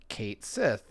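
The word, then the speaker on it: Cait Sith: recent news of uh the official pronunciation for Kate Sith I guess is how we're supposed to say it um I I will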